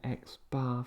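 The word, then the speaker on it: x̄: All right, so we pronounce that x bar for the mean.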